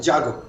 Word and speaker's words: Jago: All right, so it's Jago. Is that how you pronounce the foundation? Yeah, Jago. Jago.